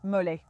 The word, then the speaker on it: mole: Mais en fait, ça se prononce molet et c'est essentiellement une sauce au piment avec des noix.